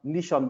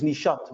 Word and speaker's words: Nishat: We will have here at the seminar Nishan. I hope that I pronounced your name correctly, Nishan. Yes. It's Nishat, by the way, with a T.